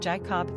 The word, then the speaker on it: Jaycob: Like you want to pronounce the word separately, J plus cob, as in corn on the cob. Will Jacob, Jacob, and Jaycob soon follow?